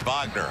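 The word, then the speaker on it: Wagner: called a flag and he goes and it's vogner as if we know we know we pronounce it correctly bronto on the reverse set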